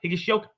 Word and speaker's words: Higashioka: say and and finally a catcher I'm gonna mispronounce the out of this Kyle Higa shoka higashioka oh never mind I did it just right